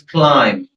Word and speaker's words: climb: CLIMB, it's climb, not B, climb. So B is silent here.